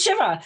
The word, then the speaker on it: Shiva: I'm like, it's 2 syllables, it's Shiva.